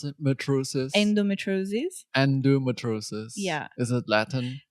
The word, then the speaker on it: endometriosis: My understanding of what endometriosis is that actually, how do you pronounce it? Metriosis?